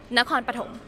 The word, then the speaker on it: Nakhon Pathom: Sorry, I can't pronounce it. What is it again? Nakhon Pathom. Nakhon Pathom.